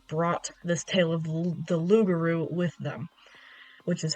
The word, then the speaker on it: rougarou: Um, but yeah, it's pronounced lugaroo.